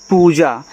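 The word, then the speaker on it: Pooja: देखो पी से आपका प बनता है। डबल ओ से बड़ा ऊ का मात्रा और जे से आपका बनता है ज। ए से आ का मात्रा। ये आपका देखो पूजा हो गया।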